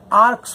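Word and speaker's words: ARKS: लेकिन गाइस अब रणबीर कपूर ने कल अपने जन्मदिन के अवसर पर एआर केएस जिसे आर्क्स प्रोनाउंस करते हैं जो कि उनका खुद का क्लोथिंग लाइन है।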